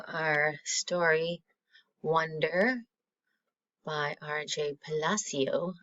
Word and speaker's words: Palacio: Palacio. I mispronounced his name earlier. I was using the Italian Palacio.